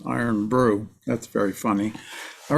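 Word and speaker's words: IRN-BRU: I'm sorry, I'm looking at chat, and Matt had brought up the IRNBRU, which turns out to be a soda, pronounced iron brew.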